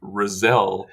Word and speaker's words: Razelle: I just want to point out that you pronounce my name Razelle like uh John Cazelle's name.